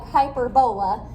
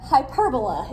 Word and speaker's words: hyperbola: Kind of looks like hyperbola, but hyperbola is how we pronounce that.